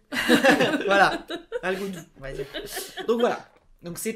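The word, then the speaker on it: Algodoo: Il y a deux O à la fin. Tu te méfies maintenant par rapport au prononciation. Voilà. Non, c'est A-L-G-O-D-O-O. Voilà. Algodo, d'accord, Algodou. D'accord, voilà. D'accord. C'est Algo et Do.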